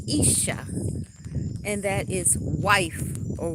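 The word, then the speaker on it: אישה: connected to that Hebrew word Isa it is pronounced Isa and that is wife or woman in Hebrew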